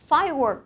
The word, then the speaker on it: firework: Mình ghép lại mình sẽ có là firework competition là cuộc thi bắn pháo hoa. Cô đọc lại một lần này. Firework, trọng âm và âm tiết đầu và chú ý đọc âm cuối nhé.